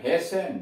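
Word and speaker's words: hasten: अब ये T silent कहाँ कहाँ, एच ए एस टी ई एन, हेसन, जल्दी करना।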